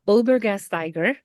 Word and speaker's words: Olbergastiger: and sidekick, uh, Julia Olbergastiger, if I said that correctly, our amazing um, science ambassador who was currently based up in Quebec City. And Julia, say hi. Hello. Um, yes, pronounced perfectly.